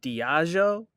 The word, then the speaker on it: Diageo: is, once again, though, I said Diego like 15 times before somebody just jumped in. I just now Chelsea, saw how it was spelled. How do you say it? Now. How do you say it? And it better be right, too. It's Diageo. Diageo.